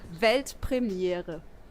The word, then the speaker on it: Weltpremiere: It's actually Weltpremiere. Pretty simple, right? I think I could do It's basically Yeah, the same. do it. Weltpremiere. Yeah, but that's good. Weltpremiere.